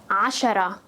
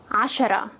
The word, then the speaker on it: عشرة: Together it becomes ashara, ashara.